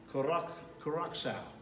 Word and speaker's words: Curaçao: I have a hard time pronouncing, but it's Curaçao. It's spelled, well, it's got a funky little C, so I'm not even gonna try to spell it.